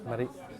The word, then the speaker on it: Marie: can you pronounce it the French way? Marie.